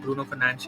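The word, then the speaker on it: Bruno Fernandes: of course has to Bruno Fernanch aka for like Bruno Fernanch in sports that how you say his name.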